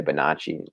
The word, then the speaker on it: Bonacci: It's an Italian name, so I guess I say Bonacci. Not kind of, I want to, but Americans pronounce it Bonacci, so that's fine. But double C makes the ch sound in Italy, in Italian.